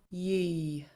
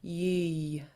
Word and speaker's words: yeey: Next word, next sound, yee. Yeah, and this Y at the end needs to be pronounced.